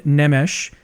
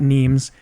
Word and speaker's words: Nemes: pronounced like uh neem so that it would rhyme with memes but it doesn't and that's just unfortunate